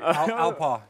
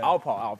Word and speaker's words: Alpaugh: Alpaugh. Yeah. Alpaugh. Yeah. Okay. So there's 3 silent letters at the end of my last name, so okay. It can be a little difficult to pronounce, but you did fine.